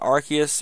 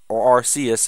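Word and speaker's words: Arceus: Rayquaza dagga Pia gutina archus or arus if you're different on pronouncing dark rry manife Fon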